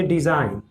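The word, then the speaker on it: design: तो जब भी एन से पहले जी होता है तो जो जी है वो उसको साइलेंट माना जाता है, उसको चुप माना जाता है। जैसे ये लिखा है रिजाइन, तो रिजाइन यानी कि इसमें जो जी है वो साइलेंट है। उसी तरह से डिजाइन, तो डिजाइन में भी जी साइलेंट होगा।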